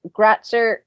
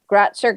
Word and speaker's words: Gratzer: Instagram design.domination, Facebook Creative Boost Co, and LinkedIn Gratzer. I feel like I'm saying your last name wrong. It's correct what you said. Gratzer Graphics.